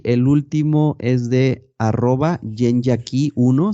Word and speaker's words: yenyaki1: Y el último es de @yenyaki1, se escribe con Y, Y-E-N, Yen, luego otra vez Y, Ya, Y-A, y luego Ki, como llave en inglés, Yenyaki1.